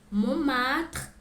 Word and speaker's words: Montmartre: La Tour Eiffel, le musée du Louvre, la Seine, la cathédrale Notre-Dame, Jardin du Luxembourg, Arc de Triomphe, Montmartre et Sacré-Cœur, Centre Pompidou.